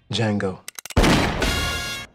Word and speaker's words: Django: Django. The D is silent.